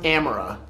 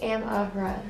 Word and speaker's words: Amara: And you told me that it's pronounced Amara. No, it's am-uh-ruh.